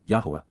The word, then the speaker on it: Yahowah: pertaining to the co-worker and associate of Yahowah, Yahowah, the proper pronunciation of the name of Eloah, God as directed in his Torah, teaching regarding his Haya, existence and our Shalom, restoration.